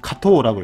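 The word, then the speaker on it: 加藤: 그러면은 가등 이렇게 하면은 여기는 또 음으로 읽어서 카토라고 읽어요.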